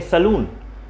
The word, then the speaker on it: salon: Place को बोलते हैं सलून. ये जो वर्ड है SALON, डबल O नहीं O, इसको पढ़ते हैं, इसका सही प्रोनाउंसिएशन होता है सैलॉन, सैलॉन, सैलॉन.